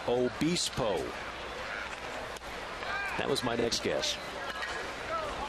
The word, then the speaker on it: Obispo: Now getting the official pronunciation of number 79. It's Weirfine Obispo.